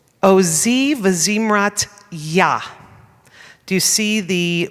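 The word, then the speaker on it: יה: hanging in the air, that's a Yud, gives us a little bit of you get a little bit of feeling of strength in the air when you pronounce Yah. The He is basically silent, but if you look,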